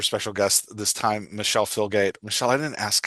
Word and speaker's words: Filgate: have a super special guest this time Michelle filgate Michelle I didn't ask how to say your